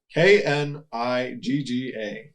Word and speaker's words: Knigga: Noah Knigga. So no hard R. But I'm assuming the K is silent. it's not. No? No, it's exactly what it looks like.